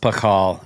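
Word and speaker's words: Pachal: And is it Pashal or Pakal? Because who is Pashal? I've heard it pronounced Pakal. Braden Pakal, okay, yeah.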